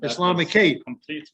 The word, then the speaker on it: Islamicate: i said no no you have to add one more syllable islamic so oh no